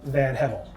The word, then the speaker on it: VanHevel: lily ray hey everyone and your colleague van hevel hey everyone pronouncing that correctly right yes sir great and